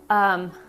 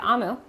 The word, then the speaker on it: Omu: So, Amu, I'm sorry, that's how you say it, Amu.